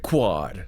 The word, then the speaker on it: KWOD: I remember, like, the local radio station was KWOD. It's like quad.